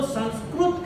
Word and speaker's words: संस्कृत: वो उनकी भाषा में संस्कृत को वो संस्कृत कहते हैं, संस्कृत नहीं कहना है उसको, संस्कृत शब्द का उच्चारण आप करेंगे संस्कृत।